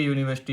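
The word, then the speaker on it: university: यूनिवर्सिटी, ए यूनिवर्सिटी, यू, ये भी consonant है।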